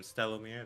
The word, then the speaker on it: Stellomir: You can find me on TikTok as I am Stellomir. That is spelled STELOOMIR.